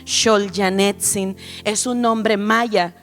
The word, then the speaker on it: Xol: de iglesia cristiana misericordia mi nombre se escribe con x porque me llamo solanin es un nombre un solo nombre para el sur de México se dice se pronuncia shol janin es un nombre